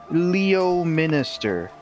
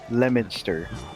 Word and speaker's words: Leominster: a stranger reading it would be like, "Oh, Leominster." No, it's Leominster because we still had the towns pronouncing like they would be for Well, I'm English.